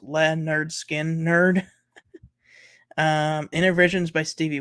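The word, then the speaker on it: Lynyrd Skynyrd: by Paul McCartney uh Leonard Skinner's first album pronounced Le nerd skin nerd um inner Visions by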